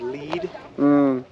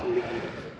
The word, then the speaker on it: Lead: no I forgot mine the town of lead is called it's spelled l a but it's lead because they' find a